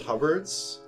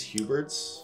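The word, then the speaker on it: Huberd's: most most boot blacks refer to it as hubs the official pronunciation is huberts and and in my head I usually refer to it as haboo Birds just cuz both hit in my head oh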